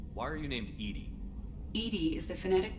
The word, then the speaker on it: EDI: a specific inquiry why are you named edie edie is the phonetic pronunciation of that is an acronym for enhanced